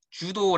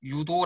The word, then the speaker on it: 유도: 한국으로 들어 왔기 때문에 주도 라는 외국어 발음으로 발음하지 않고 한자 독음 그대로 유도 라고 발음합니다 네 이제 그 다음부터는